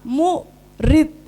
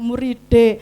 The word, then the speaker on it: murid: jadi harus sepuku kata mu Rid kayak gitu bacanya jadi enggak ada D di belakangnya muride atau apalagi huruf e i kan kayak